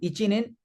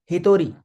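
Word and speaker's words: 一人: So to count one person, it is htori. Be careful. It is not ichin. It is htori.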